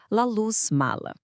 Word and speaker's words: La Luz Mala: O nome é em espanhol, então a pronúncia correta é La Luz Mala.